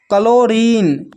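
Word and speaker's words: chlorine: फिर है क्लोरीन, क्लोरीन में भी एच साइलेंट है।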